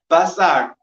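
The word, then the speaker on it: בשר: Basar. Basar. Basar is spelled basar. That's first one is what letter? Bet. Bet. Base, right? Bet is how much? 2. Next letter is samach, is sin. Sin. Basar sin is how much?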